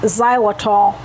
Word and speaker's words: xylitol: Now if you buy peanut butter, make sure it does not contain the ingredient xylitol. That's spelled with an X.